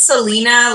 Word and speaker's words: Celina: saying my name right it's Celina like the scenery okay so we know